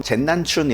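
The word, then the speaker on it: 剑南春: 어 남은 남쪽 중국어 발음으로는 젠난춘 이러더라고.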